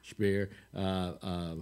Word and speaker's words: Speer: Speer actually is how it's pronounced. Speer.